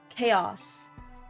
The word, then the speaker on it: chaos: or like you pronounce the ch in chase but you don't pronounce it in chaos but okay I actually